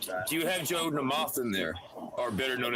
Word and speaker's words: Namath: He was not on Namath's level, not by him. When you say it like that, I think you're saying no mas. Namath. He's Hungarian. It's a Hungarian name.